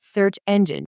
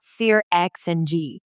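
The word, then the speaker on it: SearXNG: I also pronounce it search engine, not Seir XNG.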